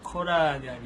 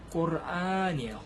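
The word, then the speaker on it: قرآن: 쿠란, 요즘엔 또 코란, 뭐 쿠란, 코란, 네 이렇게 하는데요. 이것도 사실 영어권 발음에서 온 거예요. 영어에서 이제 뭐 코란, 쿠란 이렇게 하는데요. 사실 아랍어로는 꼬르안이에요. 꼬르안.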